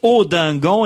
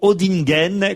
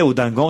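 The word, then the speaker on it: Audinghen: nom du village où ça c'est passé se prononce odingan et non odingen comme je l'ai dit dans le Pas de calis auingan et non odingen voilà j'ai fait je crois toutes les rectifs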